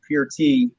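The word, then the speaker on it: Peart: him neil pert uh his last name is actually pronounced pure tea and they actually made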